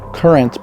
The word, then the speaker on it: QRNT: That's pronounced Current, but spelled QRNT.